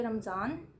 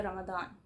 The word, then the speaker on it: Ramadan: Times when I से रमदान। Scene क्या है ब्रो? मतलब एक बंदा दो दो प्रोनाउंसिएशन, वाई? तो सीन ये है कि आई यूज़ रमदान when I am speaking in English, और आई ऑल्सो यूज़ रमदान